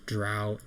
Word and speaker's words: Drow: However, just to reiterate, so when you guys fought the Dro elf, and I know it's supposed to be pronounced Drow, but I don't give a shit. It sounds lame, so I'm gonna say Dro.